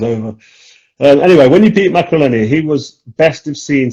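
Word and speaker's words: Maccarinelli: when you beat Macreleni, that's how you pronounce it.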